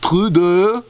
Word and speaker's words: Trudeau: Parece que primeiro-ministro canadense Justin Trudeau, apesar de ser Trudeau, né? Pronúncia francês, apesar de seu ibope internacional está alta, né?